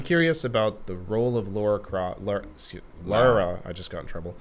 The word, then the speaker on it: Lara: Lara.